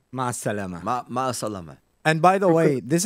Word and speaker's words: مع السلامة: How do I say goodbye in Arabic with a proper pronunciation? مع السلامة. مع السلامة. Ma salama.